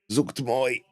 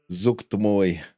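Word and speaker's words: Zuggtmoy: Zuchtmoy.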